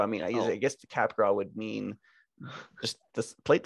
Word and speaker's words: Capgras: you are indeed correct it is french in origin so it's capgras um we we won